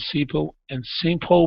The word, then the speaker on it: simple: Give me a good L sound here at the end of simple instead of simple. Simple. Simple. Almost. So you're still pronouncing an O sound. You're saying simple. Instead of O, use your tongue. Simple. Simple. There you go. That's the L sound.